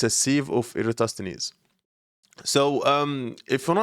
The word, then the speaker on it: Eratosthenes: Okay, I did pronounce it wrong. So yeah, let's go back here. So it's a sieve of Eratosthenes.